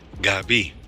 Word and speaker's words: Gabi: It's not Gabby, guys. You got to put that French accent on there. Gabi. See, A in French is "ah." So you say, instead of saying "gay," "bee," "Gabi," you say "gaah," "bee."